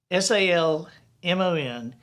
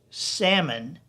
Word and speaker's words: salmon: by the way have you ever wondered why s-a-l-m-o-n is pronounced salmon but s-a-l-m-o-n -e-n-l-l-a is pronounced salmonella so it's